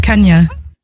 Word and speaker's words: Kennyeh: Kenya and Kota.